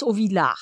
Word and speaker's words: Auvillar: You know, cause sometimes, you know, I wasn't sure if it was Auvillar or Auvillar. Yeah. Cause it could be either, but it's Auvillar. It's Auvillar. Okay.